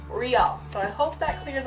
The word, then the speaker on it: Reall: you been asking me how I pronounce my name and it is Riel so I hope that